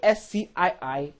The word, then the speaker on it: ASCII: The ASCII, pronounced as ASCII, is the standard for American characters.